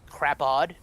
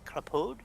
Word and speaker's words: Crapaud: Basically, Crapaude, but it's Crapaud.